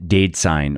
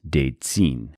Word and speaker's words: daidzein: And soy contains two of these molecules, genistein or genistein, pronounced either way, and daidzein, or also pronounced daidzein.